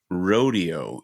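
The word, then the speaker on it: Roadeo: There are no No, it's not a It's not a rodeo. It's spelled R O A D E Oo. Like a rodeo.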